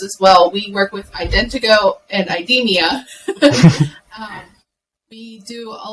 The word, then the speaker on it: IdentoGO: the company that you work with I would mispronounce it it's Indigo Indiegogo okay you're close Morgan do you want to